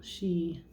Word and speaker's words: Sidhe: have the sun dance here like this little she. She is spelled Sidhe.